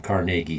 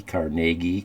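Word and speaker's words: Carnegie: in the world after he sold his um carnegi steel to JP Morgan and they formed it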